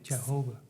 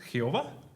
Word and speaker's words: Jehová: Entonces, en una traducción encontramos Yahvé, pero cuando se traduga al inglés, este, Yahova, Yah, Yova. Obviamente en el español no pronunciamos la la J como y. Así es. Y leemos Jehová.